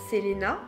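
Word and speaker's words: Celaena: Son premier ouvrage, Keleana, je crois qu'en réalité ça se prononce d'ailleurs Selena, a d'abord été publié en ligne alors qu'elle n'avait que 16 ans.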